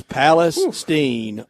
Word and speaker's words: Palestine: Is pronounced just like Palestine, Arkansas.